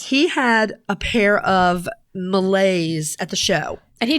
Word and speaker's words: Malay: bra Spotlight is the melee or more correctly pronounced the Malay yeah I'm calling it The melee man you're incorrect though